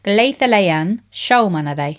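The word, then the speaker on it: Gleðilegan Sjómannadag: Apparently, the way you say it is Gleðilegan Sjómanadag.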